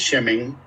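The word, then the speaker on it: שמן: La primera vez que sale la palabra aceite en la Biblia es shemen, así se dice o se pronuncia la palabra aceite en hebreo, es en Génesis 28, del 18 al 19.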